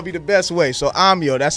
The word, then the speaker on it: Ahmyo: So Ahmyo, that's how you pronounce it.